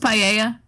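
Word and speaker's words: paella: may need to make Pella soon oh God p is one of the he just think I think he is isn't it pronounced paa probably mhm but not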